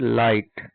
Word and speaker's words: light: ठीक है, और एक बात इसमें ध्यान रखने वाली बात है, जब भी किसी वर्ड में GHT साथ में आएगा तो उसमें GH साइलेंट होता है।